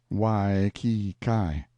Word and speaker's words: Waikiki: It is the village of Waikiki, usually pronounced Wai-ki-kai.